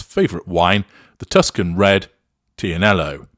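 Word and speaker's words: Tignanello: wine the Tuscan red tianello even though the g is silent in it experts have long predicted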